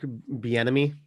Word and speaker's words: Bieniemy: Eric Bieniemy.